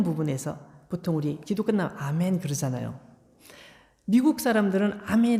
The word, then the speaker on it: 아멘: 아멘 이라고 기록되어 있어요 헬라어 에도 아메노 되있어요 우리가 아멘 으로 말한 거 똑같은 발음 이에요 아멘 이라고 그대로 가져온 거에요 그것을 에이멘 하면 정말 너무너무 직항 거야 전혀 성경적이지 도 않고